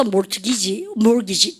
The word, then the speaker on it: mortgage: 그래서 염리가 그런 어근에서 염리가 mortgage라는 얘기가 나온 겁니다. 사실 그죠? 근데 집은 삶의 터전이잖아요. 그걸 담보로 그럼 보십시오. 그래서 mortgage T 발음 하면 안 돼요.